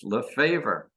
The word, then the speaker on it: Lefavour: pronounce it in English you pronounce it like you do English Le favor all right well I'm